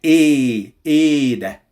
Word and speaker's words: إيه ده: The first one, as I told you before, you don't pronounce the H. So you say إيه ده.